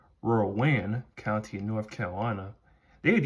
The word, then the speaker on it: Rowan: But I mean, really, as long as it sounds like Rowan, like what North Carolina has for their county that's just northeast of Charlotte, as long as they